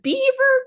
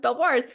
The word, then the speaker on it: Belvoir: being like, welcome to Beaver Castle. And I learned that this word that in my mind was pronounced Belvoir's that they pronounce it beaver.